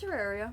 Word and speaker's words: Terraria: I don't even know how to pronounce it. Yeah, it's Terraria, basically.